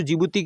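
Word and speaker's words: Djibouti: तो डी से जो जिबूती की जो स्पेलिंग है वो डी से आरंभ होती है ऐसे बोलने में जिबूती आता है लेकिन इसकी जो स्पेलिंग है वो डी से आरंभ होती है तो ये हो गया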